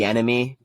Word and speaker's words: Bieniemy: Bieniemy with a B. Bieniemy. Okay, yeah. Bieniemy. It's not an enemy. It's not Finding Nemo. It's that Bieniemy.